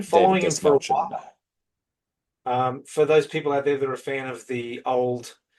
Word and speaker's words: Dastmalchian: Desmalchin. It's Melchin, not Melskian, because I've heard Yeah, both. Desmalchin. It's Des, Desmalchin. Des Melchin.